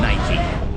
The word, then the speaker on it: Nike: So, you're saying that the E is not silent because most of the time it is silent in English.